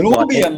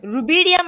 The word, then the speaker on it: rubidium: So it'll be like hydrogen, lithium, sodium, calcium, potassium, So you will rubidium, like write that. that from top to Rubium. bottom, What is rubium there? Rubidium, I said.